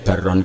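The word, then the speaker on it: بَرًّا: Kemudian ternyata secara riwayat ma'akulli amirin barron kana au fajirun. Bacanya bukan birron tapi barron.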